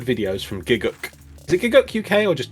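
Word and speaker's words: Gigguk: Is it Giguk UK or just Giguk?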